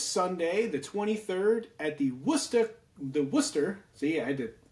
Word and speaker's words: Worcester: The Worcester. My My mother would be like, "Just say it right, Christopher. It's the wor.